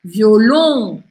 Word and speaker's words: violon: E quando não é com um E que termina, a sílaba forte é a última. Então, olha só. Violon.